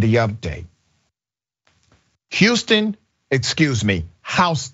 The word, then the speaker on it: Houston: update Houston excuse me hon it's spelled like Houston but it's hon County Georgia hon County Sheriff's